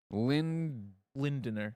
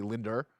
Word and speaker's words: Lindner: Lindner. Lindner. Because there's an N-D-N. There's N's right around the D. Yeah. Both sides. So what did I say? Did I say Linder?